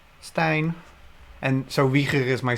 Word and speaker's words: Stijn: So the IJ in Dutch is just a vowel. It's the same vowel we use for the EI spelling. So it's, yeah, it's Stijn. Stijn.